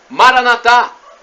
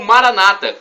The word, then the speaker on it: Maranatha: lá mais eu clamo Maranatha com a tônica na última sílaba ou Maranata com a tônica na penúltima sílaba como dizem os nossos